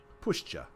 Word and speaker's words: puszcza: Puszcza. Pushcha. Okay, I was pronouncing it right.